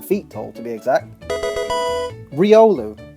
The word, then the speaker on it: Riolu: tall to be exact Riolu often referred to as rolu or Riu but if that was the case this thing would evolve into Lucario Hound hour I've heard